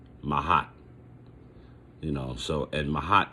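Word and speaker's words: Maat: 42 admonitions of mahat and mahat is spelled m a a t mahat you know so and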